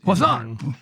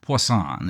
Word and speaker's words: Poisson: It's like poison with an extra S. Poisson? Poisson, an French sounding word.